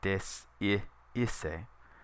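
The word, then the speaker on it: desiisse: One reason why you have to pronounce every letter so that you hear, instead of saying descisse, you say desciisse, meaning to desist or to lack.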